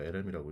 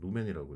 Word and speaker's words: 루멘: 다음에 단위는 룸에 있죠 이거 lm이라고 읽으시는 분들도 내가 봤어 근데 이제 이건 루멘이라고 읽고요 이거는 강원이 만드는 빗의